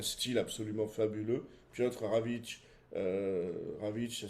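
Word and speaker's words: Rawicz: Puis autre Ravic. Ravic ça s'écrit R A W I C Z.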